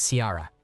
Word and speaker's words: Siara: told the family friends my name is Siara pronounced like Kira then I walked back